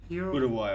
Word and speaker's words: Uruguay: to win this one i say uruguay but isn't it uruguay or something like that uruguay no completely completely off because i even said that i think that's like how south americans say it i make myself